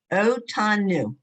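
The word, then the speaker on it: אותנו: the Anu O tanu. the Atanu The Kadosh. otanu. You should have to hear the O.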